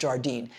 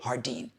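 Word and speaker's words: Jardín: It's not pronounced Jardine. Is it Hardin? Hardin? We'll find out together. Okay, it's really Hardin.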